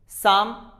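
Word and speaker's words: psalm: Pneumonia, साम, इसमें देखिए P भी साइलेंट होगा और L भी साइलेंट होगा क्योंकि L है वो, L के बाद में M है। जैसे मैंने आपको अभी बताया है कि L के बाद में अगर M हो तो L भी साइलेंट होता है, इट इज साम।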